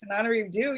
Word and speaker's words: Tananarive Due: And it's Tananarive Due. You got the hard one right. And it's the other one. You deserve an extra syllable. I've always thought so. But so anyway, this is Tananarive Due.